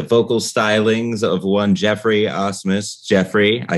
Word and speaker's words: Asmus: You said Asmus. That was great. All right. I remember that because there was a catcher for the Houston Astros. Brad Asmus, yeah. It's spelled differently, but it's pronounced the same, yeah.